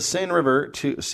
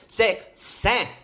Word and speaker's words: Seine: C'est Seine. Jesus Christ. Glad you're here. Seine. It's Seine. just Seine. Even all the other letters. Just out the door. It is a little underpronounced.